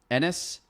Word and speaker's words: Anass: this so in this ennis you said dennis without the d ennis all right we're